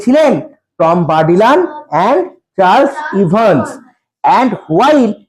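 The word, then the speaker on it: Bourdillon: অন্তর্ভুক্ত প্রথম টিমের মধ্যে ছিলেন কে ছিলেন টম বারডিলন উচ্চারণ দেখব টম বারডিলন বি ও ইউ আর বার ডি আই D double L ও এন বারডিলন হবে প্রথমটি দলে কে ছিলেন টম বারডিলান এন্ড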